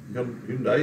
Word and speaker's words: Hyundai: Hyundai is the correct pronunciation.